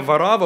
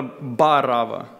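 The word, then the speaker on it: Варавва: И само имя Варава – очень интересное имя. Это древнеарамейское имя, и правильное произношение этого имени – это Барава. Само имя состоит из двух частей – Бар и Ава.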